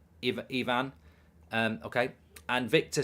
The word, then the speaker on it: Ivan: By the way, it's pronounced Ivan.